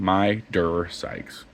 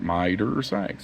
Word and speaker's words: Midersikes: Midersikes. Like Budweiser, Midersikes.